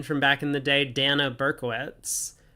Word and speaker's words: Dana: back in the day, Dana Berkowitz. Everyone else that I know with the name D-A-N-A pronounces it Dana. But for her in particular, it is Dana.